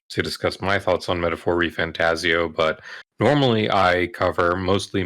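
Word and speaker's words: Metaphor: ReFantazio: The game is pronounced Metaphor ReFantazio, but Okay.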